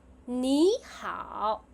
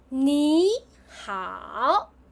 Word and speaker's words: 你好: So the first 你 will become 你. So when we combine them, it becomes 你好. Today we are going to practice more. 你好 Your turn.